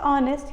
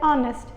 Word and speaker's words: honest: But it will be applicable because when you pronounce honest you don't tell honest, you actually tell honest. So honest by pronunciation is starting from O and therefore the vowel in front of that should be N and not A.